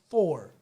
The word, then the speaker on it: Thor: and they were like it's not tor it's thor no but they were like you're too immigrant it's not tor it's thor yeah it is thor